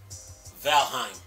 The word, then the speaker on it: Valheim: I remember when I first covered this game, I had a hard time pronouncing the name, but I got it now. Valheim.